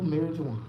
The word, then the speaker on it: marijuana: The power of medical marijuana. I think I'm the only person in the world that pronounces the J in marijuana. Like everybody else act like the J ain't there.